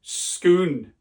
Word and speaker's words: Scone: accent experts out there if you're Scottish it's pronounced scon right so cuz there's a famous stone at schoon the stone of scoon the stone of Destiny